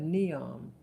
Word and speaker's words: Neom: It almost sounds like the word Neo, like in the Matrix. But they call it Neom.